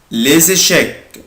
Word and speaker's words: les échecs: cartes, les cartes الكوتشينة les échecs, les échecs, les échecs, les échecs الشطرنج أنا هنا بنطق حرف الاس زد بقولها les échecs, échecs, échecs,